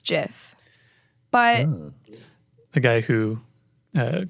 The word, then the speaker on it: GIF: It's Graphic Interchange Format, so it's a hard G in there.